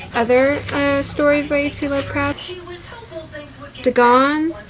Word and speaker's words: Dagon: Dagon, I think that's how it's pronounced, it's spelled D-A-G-O-N.